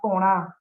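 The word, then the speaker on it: porã: aquí conocemos la palabra poná, ¿no? Que es algo bueno, algo lindo. Ahí para el doctor Fidel Camacho, esa gente explico, ¿no? Poná, con nasal, se pronuncia la última letra nasal, significa lindo.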